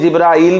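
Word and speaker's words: جبريل: मीकाल इस्तेमाल हुआ है, हाँ हदीस में जिब्राइल भी आया है, मीकाइल भी आया है, तो दोनों तरह से ठीक है, लेकिन कुरान में जो प्रोनाउंसिएशन आई है लफ्ज की वो है जिब्रील और मीकाल।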